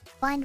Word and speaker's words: bind: Bind rhymes with mind.